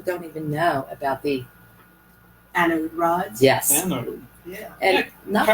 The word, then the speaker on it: anode rod: did I say it correctly? I'm not sure. But You were a little that's too running. Yeah, it's anode rod, Anode rod.